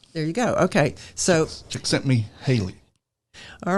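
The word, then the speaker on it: Csikszentmihalyi: in that and I can't say his name chick sent me Haley there you go okay so chick sent me Haley all right he reached out to interview a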